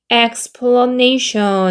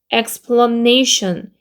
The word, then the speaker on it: explanation: 그 다음에 얘는 explanation 해가지고 얘는 에 소리죠. 이강세죠. 얘가 이강세 여기는 일강세 이렇게 있기 때문에 explanation 네 이거 같이 있습니다.